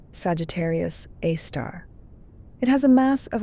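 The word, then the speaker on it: Sagittarius A*: a super massive black hole called Sagittarius A, pronounced Sagittarius Aar.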